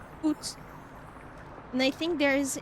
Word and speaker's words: Août: When you think about the letters, take away the Z and this is basically how you pronounce it, but it's written A-O-U-T. Oot.